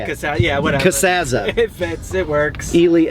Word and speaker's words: Casazza: Casazza's charging me 30 for a small, so How do you actually Are you pronounce ready? your last name? Casazza. Casazza, and then That's sort of- but you call it Casazza, Sure, yes.